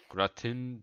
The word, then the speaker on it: gratin: Gratin That's how it's Dauphinois. called. How do you say it? You can pronounce.